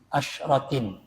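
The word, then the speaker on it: عشرة: Asyratin. Ya, bacanya asyratin. Kalau lima sakin yang dibaca masakin karena ismu ghairi munsharif ala wazni mafa'ila. Tapi asyratinnya kan enggak. Makanya tidak dibaca asyaratan tapi asyratin. Karena memang kedudukannya masakin ini majrur.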